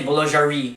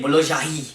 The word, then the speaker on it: boulangerie: For example, if you compare English and French, the R is different in French compared to the English. You don't say boulangerie, you say boulangerie. And I know it takes time to practice that R.